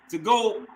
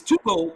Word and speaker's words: TOGO: And, you know, the 2 ciphers to go. I thought I'm gonna say it's TOGO. It's pronounced TOGO, right?